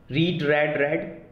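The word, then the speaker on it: read: रीड रेड रेड, spelling same है पर जो है प्रोनाउंसिएशन का तरीका अलग है, रीड रेड रेड।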